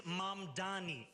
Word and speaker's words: Mamdani: And furthermore, the name is Mamdani. M-A-M-D-A-N-I. You should learn how to say it because we got to get it right.